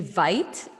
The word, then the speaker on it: Veit: My name is Veit. It rhymes with might. That's the new thing I've been saying because no one knows how to pronounce my last name. So Veit rhymes with might.